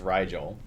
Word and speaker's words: Rigel: It is not Regal, although I think you're saying it right, it's Rigel. Rigel.